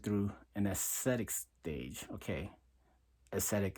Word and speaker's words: ascetic: an aesthetic stage okay ascetic is spelled a s c e t i c okay aesthetic is a lot of times when they hear it it sounds like Aesthetics right so it's two